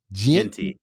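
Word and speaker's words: Jeanty: How you pronounce his last name? Genty.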